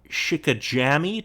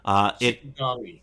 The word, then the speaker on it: Shikigami: Moving on, still on November 17th, if you had a PS2, you could pick up Castle Shikajami 2? Shikajami? I don't know how you pronounce that. Shikigami.